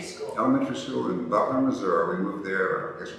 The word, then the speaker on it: Missouri: That part of the state we pronounce it Missouri, not Missouri.